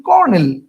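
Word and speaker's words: colonel: আমরা উচ্চারণ করি কি আমরা উচ্চারণ করি কর্নেল আমরা উচ্চারণ করিল তার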